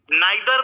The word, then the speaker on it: neither: भी होता है, तो आप इसको ईदर भी पढ़ सकते हैं या आइदर भी पढ़ सकते हैं, नाइदर को नीदर भी पढ़ सकते हैं या फिर नाइदर भी पढ़ सकते हैं। तो देयर इज अ to type of pronunciation.